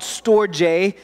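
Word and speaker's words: storge: find in the bible is this it's called storjay is how it's pronounced it's family affection family affection it's the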